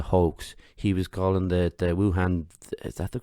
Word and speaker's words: Wuhan: He was calling the Wuhan, is that the correct pronunciation?